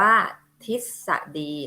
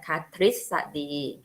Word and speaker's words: ทฤษฎี: อิ ทิพย์ 2 อะ e d อ่าน ว่า ทฤษฎี นะ คะ ทฤษฎี ก็ อ่า ถ้า พอ พาน นะ คะ จะ ออก เสียง อะไร คะ ตาม หลัง พ.